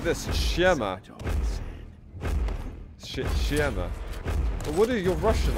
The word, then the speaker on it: Siema: Say it like this, Siema.